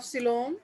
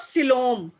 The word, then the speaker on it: coelom: body plan, body symmetry, body symmetry, nature of सिलोम, जो सिलोम है present है या एब्सेंट है, अगर है तो किस टाइप की है, नेचर ऑफ सिलोम।